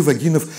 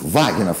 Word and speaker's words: Вагинов: такой трагической питерской судьбы вагинов которые своих ударений и составил на первом слоге а вы бы как сделали и кто из плагинов вагинов естественно поговорим о да